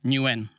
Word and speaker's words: Nguyen: How do you say it? Nguyen. Okay. Yes, that would make sense. So the G after the N makes the N heavy.